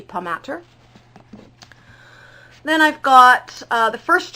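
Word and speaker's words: Palmatier: Ammon core by Joshua I think it's pronounced palm at Ta but it could be pum at her then I've got the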